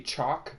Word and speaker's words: Choc: might have heard of chalk beer uh it's not chocolate I thought it was